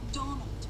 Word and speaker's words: Donal: Not Donald, mind you. There's no D at the end, so it's pronounced Donald. That's the way you're supposed to spell it, which is to say that's the way the Irish spell it.